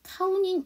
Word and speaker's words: counting: 근데 T 사운드 앞에 N 사운드고 N 사운드가 뭔가 모음사에 꼈으니까 위치상 T가 약하고 N이 강하죠. 그래서 카우닝 이렇게 주시면 되고요.